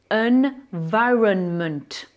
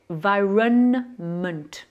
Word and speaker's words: environment: Environnement, environment. Là, j'ai prononcé environment.